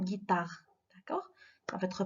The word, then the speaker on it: guitare: mais regardez ici جي درنا حداها او، كون درناش حداها او غتقرا جيتار، مي حنا on a ajouté le u donc ça va prononcer une guitare.